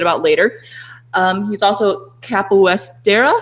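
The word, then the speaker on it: capoeira: a little bit about later um he's also capesta how do you say thata capista capista okay but it's a cool martial art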